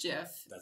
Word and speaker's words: GIF: okay so he's pronounce Geetha no it's actually pronounced jiff I call it gift I just do but actually there's this like